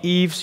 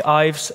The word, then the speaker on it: Ives: hard name to pronounce it's even hard to pronounce in the netherlands so you can also call me yves you can call me ives and for some reason my friends call me